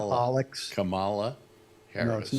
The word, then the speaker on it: Kamala: Kamala. Like Mama, but with a K. Kamala.